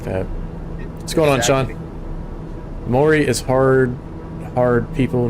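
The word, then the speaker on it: Māori: Maori with a rolled R.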